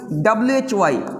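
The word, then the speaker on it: why: तरह से हम लोग देखेंगे यहां पे भी व्हाई वही यहां पे भी करीब-करीब हा क्या होता है साइलेंट होता है चलते हैं हम लोग आगे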